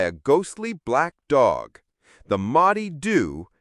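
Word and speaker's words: Moddey Dhoo: The Motty Doo, pronounced Maadoo, is a legendary black dog that haunts Peele Castle.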